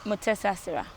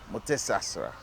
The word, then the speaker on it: Mutesasira: get a quick uh master class on the pronunciation of your name yeah and it is uh mesas mesas yeah so you are well known not only